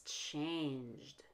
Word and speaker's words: changed: in an l and it's not changed because change ends in a j sound not a t or a d it's one syllable and it's changed the same with dressed